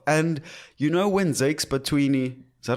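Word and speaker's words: Bantwini: And you know when Zakes Batwini, is that how you say his name?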